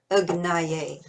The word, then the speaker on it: Agnaye: But when you see Agnaye, that A does not have an accent on the top, so it is pronounced like a sound, as in the, Agnaye.